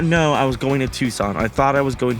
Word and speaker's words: Tucson: the what you're right I also found out I was pronouncing Tucson Arizona Tuscan because that's how it's spelled I did not know I was going to Tucson I thought I was